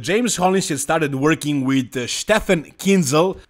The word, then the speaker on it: Stefan Kinzel: All jokes aside, James Hollingshead started working with Stefan Kinzel. That's the correct way to pronounce his name, but we can call him Stefan or Stefan, it's easier.